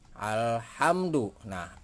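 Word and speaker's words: الحمد لله: dengan jelas itu terus di sini ada kata alhamdu lillah alifnya dibaca dengan jelas lam nya juga dibaca dengan jelas jadi alhamdulillah terus disini juga ada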